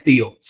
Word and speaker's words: Thiel: So the first time he had an encounter with Thiel, I keep saying Thiel, the H is silent, was in 2011, and